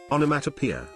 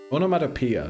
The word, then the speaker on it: onomatopoeia: 1 encounter is Onomatopoeia. Onomatopoeia, that's how it's pronounced. I don't know why I was doing onomatopoeia.